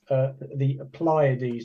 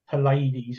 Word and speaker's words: Pleiades: Yes, I think you pointed out too that the brightest always known as the 7 sisters, or the Pleiades, not the Pallades.